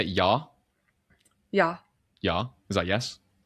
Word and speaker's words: Ja: Ja? Yeah. Ja? Is that yes? Yes. But it's spelled with a J, isn't it? Like jar.